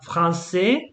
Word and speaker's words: français: So remember for example, so you have français. You don't pronounce the S, but française.